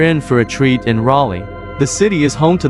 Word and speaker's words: Raleigh: some getting used to the pronunciation of Raleigh it's Raleigh not Ry the obsession with cheer